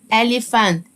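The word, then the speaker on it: elephant: سنيك سنيك فيل يعني الي والبي والاتش انطقها ف اليفانت اليفانت اليفانت يبقى دي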